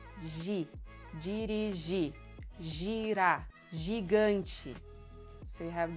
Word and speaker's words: dirigir: So when you have a verb in their infinitive form, the last syllable is stressed and the R is silent. So you don't say dirigir, you say dirigir.